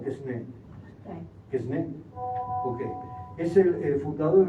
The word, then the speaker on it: Quesnay: Usted como profesora de francés me puede decir, ¿Quesnay no es o Quesnay?